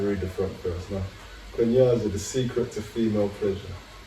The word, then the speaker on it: Kunyaza: Kunyaza, the secret to female pleasure. Am I saying it right? You pronounce it perfectly.